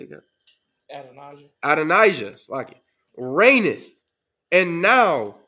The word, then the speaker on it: Adonijah: now behold how do you say again adonijah adonijah SL it reth and now my Lord the